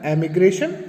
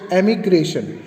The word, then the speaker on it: emigration: पहला है एमिग्रेशन और दूसरा है इमिग्रेशन. ठीक है, ध्यान देने वाली बात है ये दोनों का प्रोनाउंसिएशन ऑलमोस्ट सेम है, इसलिए इसको आपको खास